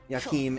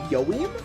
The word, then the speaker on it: Joachim: The big problem with Joachim is they pronounce his name Yoim.